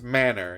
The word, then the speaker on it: manor: You know, a big house, a manor, pronounced just like the things you were apparently raised without. Ouch. Manners, manor, you understand?